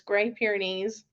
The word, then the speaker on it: Great Pyrenees: Let's see, he is half Great Pyrenees, and fun fact, I always pronounce that wrong. I don't know why I always want to say like great, but now I know it's Great Pyrenees and half German Shepherd.